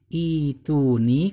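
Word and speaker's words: ائتوني: Terus kemudian kalau huruf matnya itu berupa ya, seperti barusan ituni, kan terbacanya kan ituni kan ya sukun ya.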